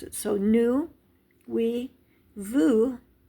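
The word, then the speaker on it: nous: he L is she new is we now we don't pronounce the S this is very common in French sometimes you do sometimes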